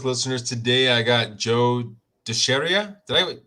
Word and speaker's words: DiChiara: But yeah, it's DiChiara.